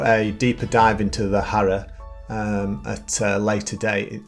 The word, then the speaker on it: Hara: I do believe it's pronounced Hara and not Hara, like I tend to pronounce it.